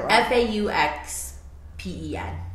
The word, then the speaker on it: faux-pen: because i was spelling f-a-u-x p-e-n faux pen yeah you know like faux leather yeah like faux leather